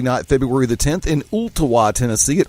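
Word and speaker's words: Ooltewah: February the 10th in Ulta wha Tennessee Ulta wha high school and yes actually pronounced it properly thanks for playing they're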